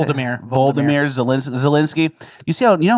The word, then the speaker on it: Volodymyr: Did you know how quick Vladimir Zelensky, was that how you say it? Volodymyr Zelensky.